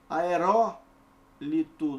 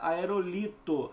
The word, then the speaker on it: aerólito: Aerólito, não é aerolito, é aerólito, beleza?